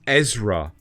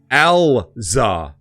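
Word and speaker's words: Erza: Now everyone was saying like, no, it's pronounced Ezra. It's like, no, it's Elza. That's what all the characters say. They literally say Elza.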